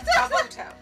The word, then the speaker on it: Kabuto: His name was Kabuto. Oh. That was so simple. How could we? It's like Naruto. It rhymes. Kabuto.